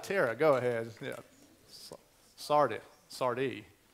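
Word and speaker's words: Sardis: go ahead yeah sard Sardi you don't pronounce the S I'm pretty sure Phil uh thank you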